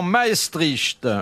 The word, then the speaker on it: Maestricht: Qui mourut devant Maestricht ? Oh là maestrich. Maestrich ça se prononce comme ça.